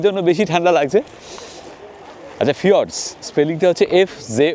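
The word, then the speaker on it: fjords: উচ্চারণটা কিন্তু ফিওয়ারস। স্পেলিংটা এফ জে ও আর ডি এস।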